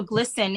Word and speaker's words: GLSEN: there are organizations like glsen um so so glsen is spelled g-l-s-e-n glsen is um they've been around